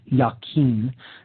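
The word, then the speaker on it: Jachin: the pillar of Jain sometimes pronounced yakin that's j a c h i n this is the solar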